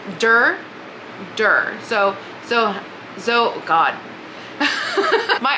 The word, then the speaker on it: door: I spent about 20 minutes trying to pronounce door, and it still comes out weird. It's dur.